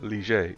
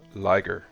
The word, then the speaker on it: Liger: The French connection is again my reason for pronouncing it Liger instead of Liger.